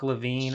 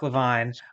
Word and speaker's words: LeVine: Lavine uncore jobs or sorry I keep on pronouncing your name incorrectly sorry leavon undor jobs I apologize that that one of the things I usually get at the beginning well I think when people go to spell it they realize LaVine is Le V NE Levine they're probably wondering is it La V NE like afro LaVine or something like that